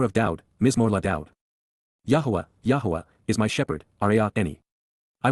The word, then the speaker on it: Yahowah: the home, Baith, in the household, of Yahuwah, Yahuwah, in the proper pronunciation of the name of Eloah, God as